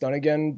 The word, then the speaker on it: Dunigan: It's actually pronounced Dunigan, but but that would usually imply two ends, but there's just one end, so I can understand how that does lead to confusion right there.